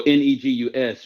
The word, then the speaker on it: negus: he goes back to I think like so n-e-g-u-s meaning it's pronounced negus um which means an Ethiopian or